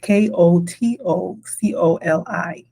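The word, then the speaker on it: Kotokoli: Kotoi is spelled K O T O C O L I.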